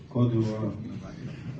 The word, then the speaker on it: Côte d'Ivoire: Côte d'Ivoire.